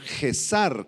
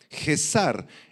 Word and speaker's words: Gesar: Y los adivinos, del arameo Gesar con Z y acento en la A, Gesar, eran quienes declaraban supuestas profecías acerca del futuro.